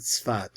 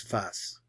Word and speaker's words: Safed: They pronounce this word, we pronounce it Sfat, or in Ashkenaz it's Sfas. But they write it as Safed.